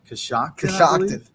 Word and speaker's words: Coshocton: Coshocton? Yeah, Is that how you say that? That's how it phonetically goes. Coshocton.